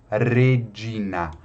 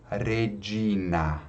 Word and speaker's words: Regina: Outra letra aqui que muda um pouquinho do português é o R, né? Que tem um som vibrante. Então, Regina. Regina.